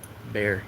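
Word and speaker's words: Bexar: I hope uh Troy and uh Bear. Yeah, they should spell it Bayer in San Antonio. That was a B behar. B E X A R in San Antonio.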